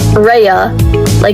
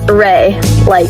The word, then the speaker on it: Ray: At first, I pronounced it as Rea, Rhea Silvia from Roman mythology. Then I pronounced it as Re, B but Re. And now I know it's pronounced as Ray, Reagan.